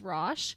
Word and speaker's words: Roch: in saguna Quebec Canada I believe the French way to pronounce his name is Rosh but he later changed the pronunciation to rock which is the anglicization